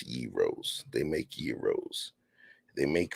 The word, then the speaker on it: gyros: mean hell they sell Gyros if you lack culture though you might call them Gyros or Gyros but they pronounce Euros they make Euros they